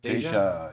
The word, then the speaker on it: Deja: it's Deja, yeah. Deja. Deja. I think Sometimes the J is silent, isn't it? yeah. Sometimes. But he's German, so it's not sure how it works.